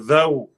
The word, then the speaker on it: though: the English language uh though t-h-o-u-g-h the GH is not pronounced it is silent however you you write